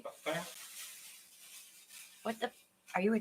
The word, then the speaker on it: mukbang: Am I pronouncing that right? Mukbang?